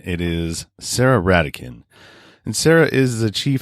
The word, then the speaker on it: Ratekin: episode started so apologize for that it's not rate kin it is sarah radicand and sarah is the chief happiness officer over